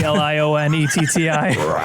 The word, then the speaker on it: Lionetti: It's pronounced Lionetti, Lionetti.